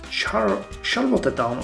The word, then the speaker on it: Charlottetown: Cornwall, both Southport, and the Charlottetown, or let's call it Charlottetown, because someone mentioned that that might be the correct pronunciation.